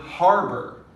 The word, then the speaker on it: harbor: The word harbor, we're going to stress on the har. Harbor, not harbor, harbor.